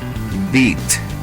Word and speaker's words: beat: que significa foto y la palabra Beat en donde la e y la a juntas tienen el sonido I como en la palabra B Beat Qué significa vencer otros ejemplos de dígrafos